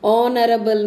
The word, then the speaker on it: honorable: The captain of the regiment is an honorable man. Honorable, H silent, A sound.